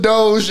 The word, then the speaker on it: doge: all right don't forget dodge coin doge doge don't even listen to him because he doesn't even know how to pronounce it yo buy some dogs yeah well tell me where dodge is from it's not dodge the car either so